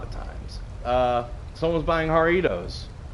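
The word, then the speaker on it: Jarritos: times uh someone's buying haritos it's the one spelled with J it's a Mexican soda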